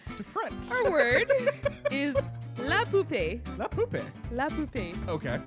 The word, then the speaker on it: poupée: What do these words mean before I tell you the correct pronunciation? I wipe front to back. I wipe back to front. Our word is la poupée.